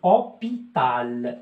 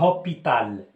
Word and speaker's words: hôpital: Alors je dis hôpital, je dis pas hôpital.